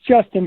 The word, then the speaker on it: JSTN: now is it justin it's justin but it is spelled jstm okay okay it is